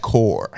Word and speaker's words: corps: It's spelled CORPS. Bill's Mafia. You don't know what plural of that. You know what the hell they did. Anyway. Go on. I believe that one's pronounced core.